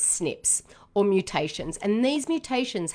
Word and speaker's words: SNP: is single nucleotide polymorphisms frequently called snps pronounce snips or mutations and these